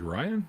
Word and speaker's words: Rion: Rion is pronounced like Ryan?